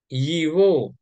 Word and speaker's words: его: Yiwo, itu bacanya Yiwo. Oh, Italik ya. etam jivo Oh, jivo sumka.